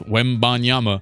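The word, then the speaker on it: Wembanyama: say it I'm like say it how it looks Wen banyama it's not like Frankie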